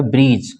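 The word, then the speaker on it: bridge: यहाँ पे जी के पहले डी आएगा तो इसको क्या पढ़ेंगे, लेजर, डी साइलेंट हो जाएगा, लेडगर नहीं पढ़ेंगे, इसको क्या पढ़ेंगे, लेजर, ठीक है।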